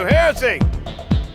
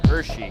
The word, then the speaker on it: Heresy: I tell you, Heresy! We should pronounce it right. A lot of people pronounce it Hershey. And I'm like, there's only 1 H in that, brosh. There's just 1 H.